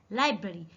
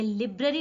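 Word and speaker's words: library: लाइब्रेरी, ये लिब्रेरी नहीं है, लाइब्रेरी, लाइब्रेरी।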